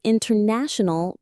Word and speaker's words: international: The T after an N often disappears completely. Oh, this is a great tip for sounding really natural. So, internet becomes internet. The word international becomes international.